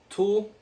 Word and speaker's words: tulle: store some fabric this fabric is called tool um don't know how to pronounce it very well but I think you spell it t u l l e I got it at